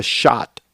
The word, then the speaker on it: Schott: tell us about your vest this is a shot shot it's as spell spelled s-c-h-o-t-t i think is how they spell it this is these are made in new